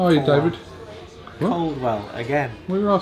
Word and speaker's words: Coldwell: me I've promoted Dave cwell how are you David Coldwell again where you say cwell coell yeah you know pronounce the d Carwell Kanan that's it